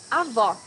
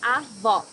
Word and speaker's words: avó: Avó, grandmother. Here you need to hear the sound of the last O in the syllable. It should be an open O as we say in Portuguese. Avó.